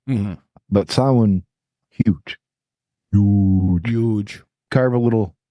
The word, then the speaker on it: Samhain: I, along with a lot of Americans, call Samhain Samhain because it's the Anglo pronunciation of the words, Samhain. Mm-hmm. But Samhain, huge.